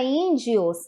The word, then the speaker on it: índio: tá aqui ó índios a sílaba tônica índio é o yin ele está acentuado e ele é o som mais forte quando a gente fala